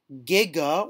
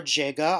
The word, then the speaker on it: giga: 6 or a million giga or jiga i've heard it pronounced both ways is 10 to the